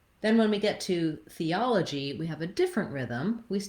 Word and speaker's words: theology: And letter G here says the J sound. You could think of it as a letter J if that's easier for you to pronounce. We either spell it with J like job or G like theology or gentleman, for example.